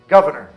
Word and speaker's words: governor: Mas, falando rápido, a gente fala February, berserk, governor, surprise. Então, o primeiro R acaba sendo omitido.